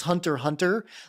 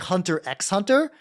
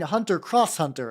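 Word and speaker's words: Hunter × Hunter: to pronounce Hunter Hunter I thought it was like Hunter x Hunter cuz nobody told me you weren't supposed to pronounce that and then I do know some people like Oh you mean you mean hunter cross Hunter and I'm like that also sounds like it could be right I don't see I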